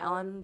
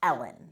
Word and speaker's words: Uilleann: So, I'm pronouncing it Ellen pipes, but they're spelled, you ready for this? No. Uilleann. Uilleann. But it's pronounced Ellen.